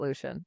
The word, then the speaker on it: Lucien: I feel fairly confident that it's supposed to be pronounced Lucian in the context of this series, but I'm with you. I say Lucen in my head.